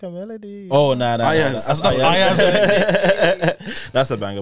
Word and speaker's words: Iayze: My song of the week is this guy called, I think it's pronounced Iayz.